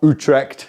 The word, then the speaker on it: Utrecht: Utrecht. See, I can pronounce it correctly now.